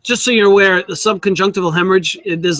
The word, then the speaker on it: subconjunctival: when you have a subc conjunctive old Hemorrhage I can't even pronounce that still sub conjunctival yeah that's it that's it that right that